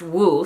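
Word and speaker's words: 五: Fun fact, in Chinese the number 5 is pronounced wu, so a string of 5s would be woo woo woo woo woo, which is actually their equivalent of boo-hoo.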